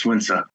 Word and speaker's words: Sun Tzu: It's not Sun Tzu, by the way. His name is pronounced Sun Tzu.